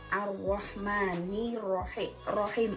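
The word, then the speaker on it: الرحمن الرحيم: Cara membacanya harus memasukkan ke huruf syamsiyah atau alif lamnya tidak dibaca jelas. Contohnya Ar-Rahmanir-Rahim. Nah, itu ada alif lam bertemu dengan ro. Ar-Rahmanir-Rahim.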